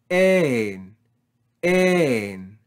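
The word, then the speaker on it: ἦν: In the next word, we have the vowel eta with soft breathing and a circumflex accent. So we read this as ein, ein. Rise and fall on the syllable with no breathing. Ein, ein.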